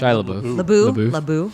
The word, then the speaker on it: Shia LaBeouf: How do you pronounce his last name? Shia LaBeouf.